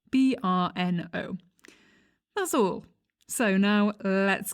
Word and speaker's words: Brno: referring to it as bruno so burno is the correct way to say this city name brno that's all so now